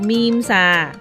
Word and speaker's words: meme: (How to pronounce "Meme") This word isn't pronounced "Me-Me" But is pronounced "Meem" Memes are spread easily like viruses.